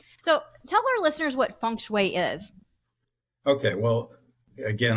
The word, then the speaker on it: feng shui: tell our listeners what Funway is okay well again I had to learn how to pronounce the word myself and you pronounced it very well a lot of people